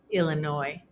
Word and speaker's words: Illinois: And the last exception is that sometimes S is silent after the letter I. For example, the following words: debris, aisle, aisle again with a different spelling and meaning, island, Illinois.